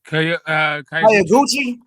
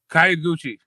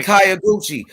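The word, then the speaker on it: Kyoguchi: Hayaguchi. Yeah, Hayaguchi, right? That's how you say his name? Kayaguchi with the K. Yeah, Kayaguchi.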